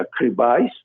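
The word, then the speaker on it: crevice: cuenta de cómo bueno se escribe crisis otros dicen crisis otros dicen que se pronuncia escribáis finalmente lo pueden encontrar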